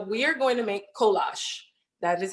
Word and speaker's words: kolache: So we are going to make kolache. That is how you pronounce it.